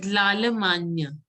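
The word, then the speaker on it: L'Allemagne: This one, this is Lalamanya. Lalamanya. A-G-N-E is pronounced, G-N-E is pronounced as Anya.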